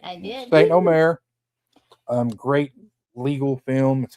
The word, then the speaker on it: Saint Omer: Then we have Saint Omer. Hey, you pronounced it right. I did. Saint Omer.